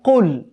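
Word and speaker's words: قُلْ: আমরা আবারো পড়ছি বিসমিল্লাহির রাহমানির রাহিম কউজুবি রববিল ফালাক খেয়াল করুন এখানে যখন আমরা পড়লাম কুল এটা কিন্তু কফ কফের উচ্চারণ হবে এখানে কেমন কোনভাবেই কিন্তু এটিকে কুল বলার সুযোগ নেই অনেকে কিন্তু আমরা কুল বলি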